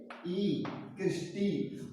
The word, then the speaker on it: cristae: CRI क्या spelling है क्रिस्टी की, CRISTAE, क्रिस्टी।